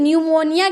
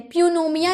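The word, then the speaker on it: pneumonia: प्यूनमिया नहीं न्यूमोनिया यानी कि निमोनिया जो बीमारी होता है ना उसे हम कहते हैं तो इसे हम निमोनिया कहते हैं। पूनोमिया नहीं कहते प साइलेंट होता है।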